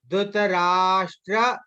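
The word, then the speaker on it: धृतराष्ट्र: Or like here, whenever there is small dot on the S na, then we should pronounce it as Sha. Okay. Once again, I am just saying, see how I am just pronouncing. Dhritarashtra Uvacha.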